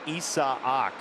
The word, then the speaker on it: Isaac: his bat name is spelled isaac but it's pronounced issa ock paredes double a eerie sea wolves in 2019